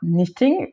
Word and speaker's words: knitting: Donc K c'est pour knitting, comme on l'entend pas quand on le prononce, mais ça s'écrit K-N-I-T, to knit, tricoter en anglais.